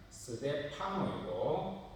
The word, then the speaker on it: 스데파노: 그런데 정확하게 발음하면 자막에 보시는 대로 스데반 집사는 스데파노이고 고린도 사람 스데바나는 스데파나입니다.